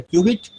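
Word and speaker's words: qubit: quantum information is a cubit pronounced as Cubit or a Quantum bit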